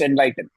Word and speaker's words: NLYTN: He brands himself as a musician with Enlighten. It's pronounced Enlighten.